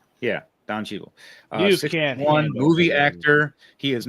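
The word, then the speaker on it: Cheadle: Um, got Don, uh, Cheeel. Did I say it right? Not a flowery picture of him. 61. Don Cheetel. Yeah, Don Cheetel.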